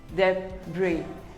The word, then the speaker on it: debris: is pronounced as debris the bree the s is silent debris we all have